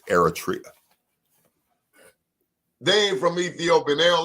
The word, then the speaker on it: Eritrea: they from Eritrea Eritrea make sure you say it right it's Eritrea Dave from Ethiopian they